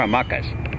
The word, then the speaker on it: hamaca: What the world needs is more hamacas. I think that's the way to go too. Lección 110. La hamaca. Amacar. To swing. Amacar. Remember, we don't pronounce la H.